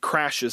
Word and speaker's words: Crashe: by some guy named Crashes. I think that we're supposed to find that word Crashe and actually just see the word crash. Okay? The E is silent.